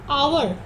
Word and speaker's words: hour: So here the first one, H, is silent here. The sound you hear is O. Honest, our, honorable.